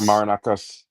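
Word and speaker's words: Marinakis: Yeah, Marinakas.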